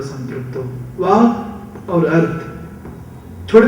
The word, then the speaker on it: संपृक्त: संपृक्त, संयुक्त भी बोल सकते थे कालिदास जी, संपृक्त बोले। संपृक्त ये शब्द दोनों ओठ मिलके ही निकलता है। चेष्टा करो संपृक्त उच्चारण करना, संपृक्त बोलना, परंतु ओठ जोड़ना नहीं।